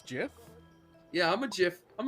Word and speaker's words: GIF: right at least oh so we all agree that it's Jiff yeah I'm a gif